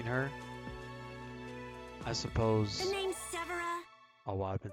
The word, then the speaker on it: Severa: The name's Severa. Oh wow, I've been saying her name wrong this whole time. Severa.